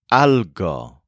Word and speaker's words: algo: human the non-human thing is called algo spelled a LG o kind of like algae but the human thing